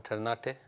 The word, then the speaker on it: Ternate: This one, Ternate. You were trying to pronounce Ternate earlier on.